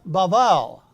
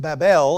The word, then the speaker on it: Babel: That's a hard B. There's the A. And then here's another B. That's a soft B. There's another vowel. That's Babel. We pronounce it Babel or Babel. It's the same word.